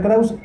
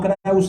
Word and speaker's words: Kraus: como ya se adelantaba Mi nombre es kraus Y no crause y siempre me gusta hacer esa aclaración nada que ver mi nombre se escribe con doble s y Bueno pues yo